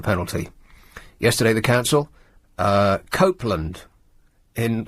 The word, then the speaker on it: Copeland: Yesterday the council uh Copeland in can you believe that the first syllable is cope when they seem to be coping so very poorly?